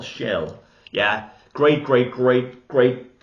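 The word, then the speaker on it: Schell: Malini Dietrich and what is how do you pronounce his name Maximilian Shell Shell yeah great great great great talent Montgomery Chris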